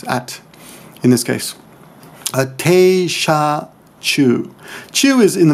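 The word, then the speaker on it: 車: Sha is kuruma, but in this case it's sha because it's paired along other kanji. When kanji are paired together, their pronunciations may change.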